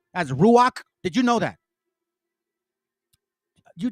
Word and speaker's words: Ruach: Did you know that the Holy Spirit we pronounce as Ruach?